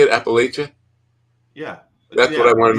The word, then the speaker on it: Appalachia: how you say it Appalachia yeah that's what I want to know how do you say it the people who live there say Appia oh well you know